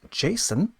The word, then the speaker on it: JSON: JSON, JavaScript Object Notation, sometimes pronounced JSON, is a common way to be able to